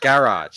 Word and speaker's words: garage: being deliberate though know if you pronounce garage like it rhymes with carriage then you probably pronounced primer as primer there you go now